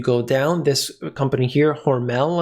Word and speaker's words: Hormel: down this company here hormel i believe it's pronounced that's spam skippy and